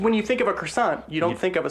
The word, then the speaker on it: croissant: Croissant. Because that is how you pronounce it.